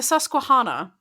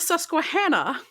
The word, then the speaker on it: Susquehanna: If you ask the play-by-play guy, the three rivers are the Ohio, the Monongahela, and the Susquehanna.